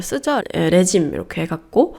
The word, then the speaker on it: Regime: 레짐 이렇게 해갖고 얘도 이제 프랑스어가 어원이라 발음하는 방식이 좀 다릅니다. 레기메 아니에요.